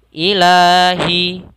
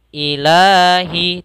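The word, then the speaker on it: إِلَٰهِ: tajwidnya adalah Mad Thobi'i cara membacanya kita panjangkan dua harakat Ilahi Ilahi tidak ilah jangan terlalu panjang dalam membacanya Cukup dua harakat saja ilahin ilahinas Kemudian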